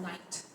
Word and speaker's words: night: the eye makes sense now we have these two funny silent letters so this is going to be a GH so then I'll have them